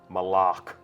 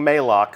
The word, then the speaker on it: Moloch: left and that is Moloch malach right official pronunciation confirmed so if you hear anybody saying may lock send them right here